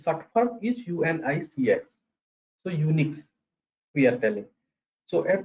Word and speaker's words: Unix: After that they converted the pronunciation of this is Unix.